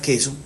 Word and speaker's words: queso: del Habla por ejemplo la palabra queso se transcribe queso la u no se pronuncia y la q tiene el sonido de la k eh el lenguaje qu